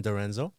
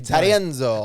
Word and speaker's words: D'Arienzo: I mean, it's like a D it's been Americanized. I mean, it's Italian. That's what I'm saying. It should be Dorenzo. That's what I'm saying. That's why I was But gonna say it like that, because I'm from Germany. It will be Arianzo.